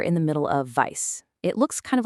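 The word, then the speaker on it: weiß: So, the word vice is pronounced just like the English word vice.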